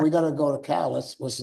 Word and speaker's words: Calais: And we got to go to Calais, which is not Calais, or Calais, we got to Calais. So we're going to end it up by going to these towns and we're mispronouncing it.